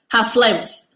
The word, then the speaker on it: Hot Flamus: Hot Flamus. That's how it's pronounced. Flamus.